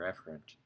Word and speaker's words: efferent: or effort travel down the correct way pronounce it is afferent or efferent let's take a look